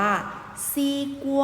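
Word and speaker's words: 西瓜: โม แตง โม ภาษา จีน ออก เสียง ว่า ซี กลัว a c e ว่า หมาย ความ ว่า แตง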